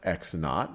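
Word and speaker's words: x₀: x value is x sub well this is pronounced x naught or you just x sub zero is just x naught and when and when x is x naught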